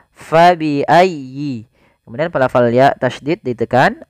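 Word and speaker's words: فبأي: sedikit fabiayyi di sini Fa harus dialirkan jangan sampai diganti dengan P jangan diganti dengan paabiayi ah jangan tapi kemudian dia bacanya dengan huruf F Fa fabiayyi kemudian padafal ya tasdid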